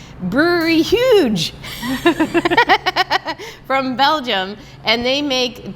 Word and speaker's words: Huyghe: It's Brewery Huyghe from Belgium, and they make Delirium beers, and